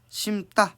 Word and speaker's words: 심다: 우리 안다, 그다음에 심다 이런 거 같은 경우는 발음이 어떻게 됩니까? 안따, 심따 이렇게 되는 경우들을 확인할 수 있고요.